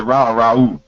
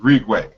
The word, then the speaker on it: Ra: it Rue and uh because you say most people say ra but it's Rue the o sound is